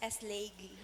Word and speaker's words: Eslegi: My surname is Eslegi. Eslegi. Yeah, it is pronounced Eslegi.